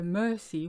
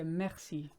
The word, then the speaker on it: merci: I'm going to explain the mercy rule states that if a word contains an e which is immediately followed by two consonants in this instance maxi with an and RC the always sounds like an air which is why we don't say mercy we say maxi and here it is